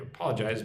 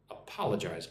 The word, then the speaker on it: apologize: Apologize means I am sorry. Apologize. Appal. Apologize. Emphasis on the second syllable.